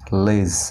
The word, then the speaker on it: ledge: যেমন LEDGE লেজ, এখানে লেড জে কিন্তু না, এখানে ডিটাও সাইলেন্ট, ঠিক আছে?